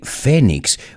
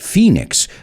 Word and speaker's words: phoenix: rises from the ashes i know you guys say fenix we pronounce it phoenix just like the city in arizona phoenix arizona and then i said